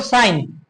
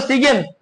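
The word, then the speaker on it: sign: যেমন খেয়াল করো, সাইন, তুমি কি বলো, সিগেন বলো না, কি বলো, সাইন বলো, এই যে জিটাকে উজ্জ্বল রাখো, তাই না?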